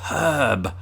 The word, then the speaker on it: herb: getting all confusing um but it's herb herb although we don't pronounce the r in in herb as brits either unless you're from